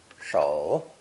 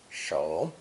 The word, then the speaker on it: 首: Pronounced third tone, shou, shou.